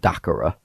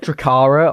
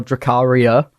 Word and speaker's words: Dacara: Oh, we've got Dacara or Dacaria. We've had so many mispronunciations of the name.